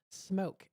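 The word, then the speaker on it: Smeauxk: And smoke is spelled very fancy. It's spelled very French. Smoke. S M E A UX K the Smoke Barbecue from 4:30 to 8.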